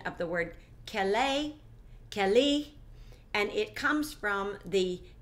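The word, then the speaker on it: כְּלִי: You click on it, and it gives you the pronunciation of the word keli, and it comes from the Hebrew word 36:15.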